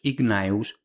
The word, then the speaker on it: Gnaeus: De hecho, las veces que los nombres aparecen escritos completos, sin abreviar, lo que hay es efectivamente Gayus Gnaus con G.